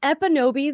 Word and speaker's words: Ekpunobi: It's Epinobi. The K is silent for whatever reason.